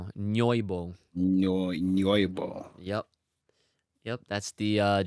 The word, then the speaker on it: Nyoibo: It's spelled Nyoibo. Nyoibo.